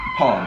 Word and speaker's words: palm: Palm. You don't pronounce that L in palm.